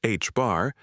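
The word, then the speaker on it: ħ: Planck found that this proportionality factor, now known as Planck's constant and denoted h, pronounced h bar, is about a billionth of a billionth of a billionth in everyday units.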